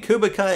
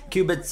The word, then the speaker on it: Kubica: know I was saying kubica it's old habit so I used to call his name I know I'm saying it wrong cubitz uh let's see if